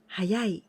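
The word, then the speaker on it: 早い: the vertical line long line this means early hayai now in this to google this kanji hayai also can pronounce so this is on yummy so and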